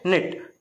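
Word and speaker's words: knot: नहीं पढ़ते, क्या पढ़ते, निट, कनॉट नहीं पढ़ते, क्या पढ़ते, नॉट, मतलब के रहता है पर उसको बोलते नहीं, उसको इंग्लिश में साइलेंट बोलते हैं।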